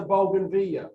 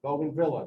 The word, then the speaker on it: bougainvillea: flowers inside this is a bougainvillea golden villa depending on how you want to pronounce it these are what we